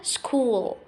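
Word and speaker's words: school: كده عندي كلمه مدرسه سكول سكول سكول هنا عندي الاش سايلنت مش بنطقها بعد كده عندي تلميذ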